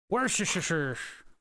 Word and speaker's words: Worcestershire: Worcestershire. It's the actual pronunciation.